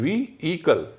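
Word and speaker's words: vehicle: नहीं where व्हीकल लोग व्हीकल कहते हैं व्हीकल हां लेकिन वी ई एच आई सी एल ई इसमें एच का उच्चारण नहीं होता है वी ईकल आप एच हटा दीजिए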